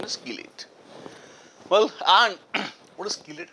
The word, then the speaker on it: chelate: The correct pronunciation is chelate.